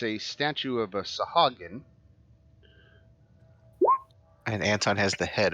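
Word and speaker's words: sahuagin: looking thing oh here we go that's a sahagan oh it's schwagen oh is that how it's pronounced sherwagon yeah it's even funnier like shabbat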